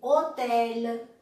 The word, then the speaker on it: hôtel: mas para nossa alegria, no começo existe só uma, que é o H, ou H em francês. Então lá você lê hôtel, homme, habiter, hommage.